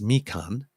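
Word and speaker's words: Mīkan: people you can pronounce oh great this print pronounced me Khan is an Algonquin word meaning Road or path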